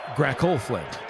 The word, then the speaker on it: Grackleflint: Grackleflint. Grackle. Yeah, it's a K, not a G.